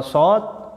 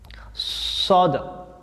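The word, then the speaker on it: ص: Ya, jadi dibacakan so, jangan nanti hurufnya so dibacanya sa. Ya, jadi hampir mirip seperti siulan burung, ya.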